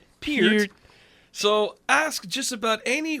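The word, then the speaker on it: Peart: Per How did I pronounce this poor man's name? Pier. Pier.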